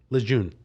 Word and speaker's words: Lejeune: Lejeune.